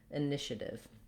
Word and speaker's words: initiative: You probably want to go with I, but sometimes I write this as a schwa or an sound because people will make too much length or too much stress on that first syllable. So you want it to be really short and reduced. Initiative. And then notice we have, because the TI makes the SH sound, it's not IA here like it is in initiate, but rather just initiative.